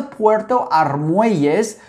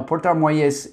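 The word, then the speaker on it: Puerto Armuelles: can go out to puerto ries which is close say with me puerto ries you gotta roll your rs uh no puerto moyes um that is in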